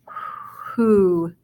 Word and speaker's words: who: Now, instead of an O, it actually has a long U sound. So it says who.